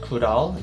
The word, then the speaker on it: Goodal: guys a background of kudo pronounced kudal its name comes from two english words good and all it's supposed to mean